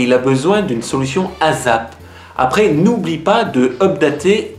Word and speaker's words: ASAP: In French, a lot of people say ASAP with a Z sound, but in English, we say ASAP with a s sound. ASAP.